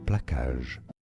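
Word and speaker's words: plaçage: For reference, in French it's said as placage. Placage. That's how you say it.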